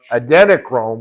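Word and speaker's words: adrenochrome: And um have you heard of um adenocchrome? How do you how do you pronounce that word?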